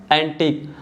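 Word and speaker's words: antique: pattern देख सकते हो इन तीनों में भी जो लेटर यू है य साइलेंट है और ई भी साइलेंट है और जो लेटर क्यू है यह कौन सा साउंड बना रहा है क साउंड बना रहा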